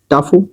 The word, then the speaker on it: tough: ठीक है, अब देखें प्रोनाउंसिएशन। TOUGH टफू, ROUGH रफू, COUGH कफ, SLOUGH स्लफ।